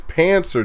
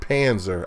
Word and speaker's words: Panzer: lit up by rain saying it's pancer dragon not panzer I I was trying